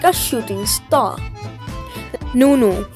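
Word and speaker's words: ނ: Nunu, which makes the N sound like in no, but it is pronounced with the teeth.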